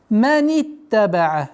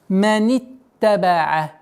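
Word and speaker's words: مَنِ اتَّبَعَ: Тунзиру маниттабаа. Обратите внимание, с огласовки фатха, кясра, уходим на удвоенный та. Маниттабаа. Маниттабаа. Удвоение маниттабаа. А теперь с огласовки фатха уходим на зай. Маниттабаа зикра. Маниттабаа зикра. Маниттабаа зикра.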